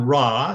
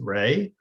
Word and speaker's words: Ra: against the sun so the god ra sometimes brown's bra sometimes pronounced rey is um the egyptian